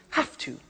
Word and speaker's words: have to: pronunciation I have to notice I don't say V I say f have have it becomes have to have to becomes in pronunciation have to have to okay so